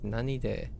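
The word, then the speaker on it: 何で: More clearly and strictly asked by what means, the pronunciation is nanide will be used.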